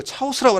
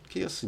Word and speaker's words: chaos: 자, chaos라고 하는 거 이거 차오스라고 하면 큰일입니다. 차오스라고 또 이제 우리가 CH 발음이 이제 또 되게 이제 무식함을 드러내는 건데 취라고 생각해서 이거 차오스라고 발음하는 친구도 있는데 chaos죠. 케이오스 이제 무질서 혼돈이라는 뜻인데,